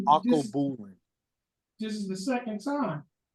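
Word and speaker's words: Alkebulan: It's called Akobulin.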